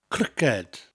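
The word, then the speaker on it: criced: Cricket. Spelt C-R-I-C-E-D. So we don't have the letter K in Welsh. But this K sound that we get from the K in cricket, In Welsh, it comes from that hard C sound.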